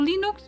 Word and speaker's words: Linux: me you say probably English you say also lenux or do you say l like question now how do you pronounce it in English I know I I just used it the German Linux so sorry I'm not sure how do you